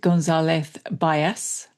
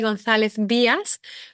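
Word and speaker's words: Gonzalez Byass: Today I'm joined by Victoria Gonzalez Gordon, Chief Sustainability Officer at Gonzalez Bias.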